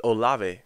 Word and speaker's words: Olave: um i have chris o i was his name wrong or live it's olave chris olave who's a deep threat talked about